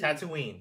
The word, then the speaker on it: Tatooine: winner tne that's how you say it T Tatooine I can't say remember but I can say